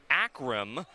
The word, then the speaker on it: Akram: Number 20, Nasir Akram, is the correct pronunciation of Nasir's last name.